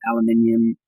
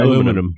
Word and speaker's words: aluminium: Aluminum. Yeah. That's the translation. You guys add a couple of extra vowels in there, I think. Aluminium is how the rest of the world says it.